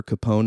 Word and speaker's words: Capone: do talk show uh today we have Amber Capone and I'm pronouncing that correctly please yes all right nice